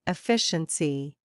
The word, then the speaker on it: efficiency: The stress is on FI. Repeat slowly. E FI CI. Dear students, today we are learning a very important academic word. Efficiency.